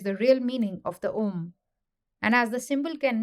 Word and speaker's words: OM: and this is the OM and the OM only because these three letters a u m pronounced in combination as om May well be the